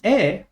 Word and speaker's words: へ: particle otherwise we say ha normally and the e or he is pronounced E when we're using it as a